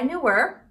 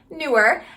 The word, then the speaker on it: Neewer: So this video is actually going to be a sponsored video by Neewer. Nope, Neewer. They told me how to pronounce the name, but by Neewer.